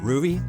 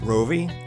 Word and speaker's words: Rouvy: what is it and how the heck do you even pronounce it is it ruy roie rui something else I'm going with a ruy hey folks welcome to